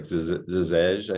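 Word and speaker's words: Žeželj: a wonderful artist, Daniel Zazelj, and let me know if I mispronounced that. But It's close. I think the close. L is kind of silent. It's like Zizej, I think is usually, but you know, That's it's up Got for.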